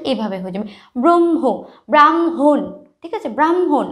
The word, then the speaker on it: ব্রাহ্মণ: এভাবে হয়ে যাবে ব্রহ্ম ব্রাহ্মণ ঠিক আছে ব্রাহ্মণ আমরা কিন্তু হ এর উচ্চারণটা খুব কম করি ব্রাহ্মণ তাহলে কি মটার